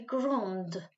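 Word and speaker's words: grande: pronounce it as gong a girl will be grund a boy would be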